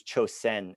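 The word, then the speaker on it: 朝鮮: a particularly Japanese perspective, they will use Chosen, S-E-N, because that's the Japanese pronunciation.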